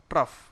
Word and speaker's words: trough: क्या स्पेलिंग है? TROUGH, ट्रफ।